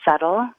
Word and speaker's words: subtle: me think oh yeah settle has a b in it which I always thought was a really funny word to have a silent letter because you could say that the B is very subtle in a way but